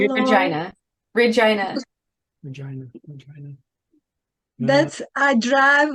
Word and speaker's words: Regina: Oh, and by the way, the only city you're not allowed to mispronounce is Regina. All the others you can screw them up in. And I already did that. Yeah, don't call it Regina.